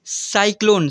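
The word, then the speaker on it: cyclone: पर लिखा हुआ है यदि सी के आगे ए ओ यू के आर एल आदि कोई भी वर्ण हो तो सी का उच्चारण क होगा तो आप लोग को मैं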